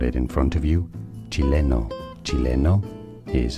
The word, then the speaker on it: Chileno: Chileno.